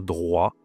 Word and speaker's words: droit: Le O i, ça se dit W en français.